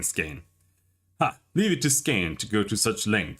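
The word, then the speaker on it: Skaen: leave it to scan scan that's how we pronounce it like stand just scan skin scan I'm gonna keep saying skein ah leave it to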